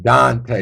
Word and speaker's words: Donte: And I did pronounce that right. Dante with a O, not an A, correct?